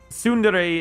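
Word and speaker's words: tsundere: Sundere is somebody who bonds over somebody but doesn't show it. It's and it's also begins with a T. So with the a silent T.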